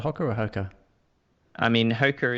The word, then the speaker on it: Hoka: I mean, Hoka is the official pronunciation, but everyone knows what you mean if you say Hoka. So I go back and forth according to whatever someone else is using. Yeah. But Hoka One is the correct pronunciation.